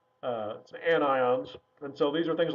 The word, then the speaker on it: anions: have negative ions which are called anions again not anyons anions and so these are